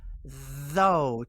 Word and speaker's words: though: The TH is voiced. Put your tongue between your teeth and let it vibrate. If you watch it on YouTube, you can see my beautiful tongue. Though. Though rhymes with go.